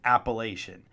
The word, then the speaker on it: Appalachian: about the Appalachian Mountains, or maybe you prefer Appalachian, like they say down south. Regardless, we will stick with Appalachian. That's the right way to say it, yins guys.